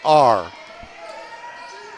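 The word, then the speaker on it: Ahr: She spells her last name A-H-R. It's pronounced R.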